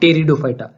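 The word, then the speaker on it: Pteridophyta: hello फटा ब्रायोफाइटा और टेरिडोफाइटा टेरिडोफाइटा की स्पेलिंग बी से स्टार्ट हो रही है लेकिन स्पीड है साइलेंट यह बात आपको याद रखिए उसका जो प्रोसेशन विजिट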